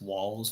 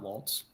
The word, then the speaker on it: Walz: just going to say there's no T in walls' name it's walls not Waltz that's all I keep